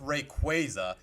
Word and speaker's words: Rayquaza: Like if y'all saw the world's like if y'all saw the world's broadcast, they were saying, "Oh, it's pronounced Rayquaza.